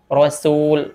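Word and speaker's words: رسول: berikutnya yang sering terjadi ketika mengucapkan huruf Sin yaitu ketika huruf Sin tersebut berharakatah mirip seperti hurufad berharakatah contoh pada kalimat Rasul ada yang baca Rasul jadi keliru dalam pengucapannya caranya agar bisa membedakan huruf dan huruf ketika ber ah kita tarik rahangnya ke belakang kita kembalikan ke rahang tipis Rasul ro ro suul Rul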